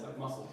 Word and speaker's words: muscle: the right maybe but for some reason we don't pronounce that c and there it's just muscle that's all it is that's muscle anyway but other than